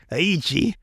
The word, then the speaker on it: Eikichi: It's Eikichi. Aichi. It's silent E.